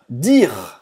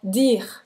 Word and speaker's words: dire: Olha aqui a pronúncia aqui na garganta. Dire, dire. E você não vai dizer dire. Dire, não é dire. Esse e no final, esse e no final, não vai ser pronunciado.